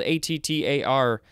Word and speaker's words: attar: It is spelled A-T-T-A-R. Okay, this is interesting. It says also auto. O-T-T-O. Auto. And that also shows an A with an umlaut for the first syllable, so that's ah. So ah. Attar.